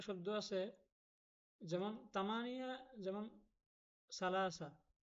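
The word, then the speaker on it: ثلاثة: দেখতেছেন এটাও সাটাও সাহেলে এখানে কেন তা উচ্চারণ হবে তা উচ্চারণ হবে না এগুলো সা উচ্চারণ হবে প্রিয় দর্শক ভিডিওটি কেমন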